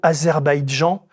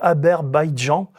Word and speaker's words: Azerbaïdjan: Il ne parvient pas à se souvenir du mot Azerbaïdjan. Aberan qu'il prononce Aber Bijjan. Aber Badjan.